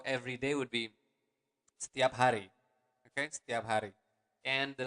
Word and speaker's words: hari: Every day is setiap hari. Okay, let's repeat it again slower. Se, setiap, setiap hari. Again, you want to pronounce the word R clearly. Setiap hari.